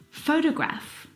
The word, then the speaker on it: photograph: in the first example photograph the first syllable is the stressed syllable you can hear it very clearly photograph o fo de graph the second syllable is unstressed and it is uh reduced down to the schw sound T photograph pH photograph it's very short it's very lazy it's not very strong at all now if you look